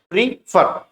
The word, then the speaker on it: prefer: नहीं प्रिपेयर नहीं बोलना है। प्री फर प्री फर प्री इसको तोड़ा हमने प्री और फॉर इस तरह से हम इसको बोल सकते हैं। और आखिरी का आर प्रोनाउंस ना भी करें तो भी चलेगा।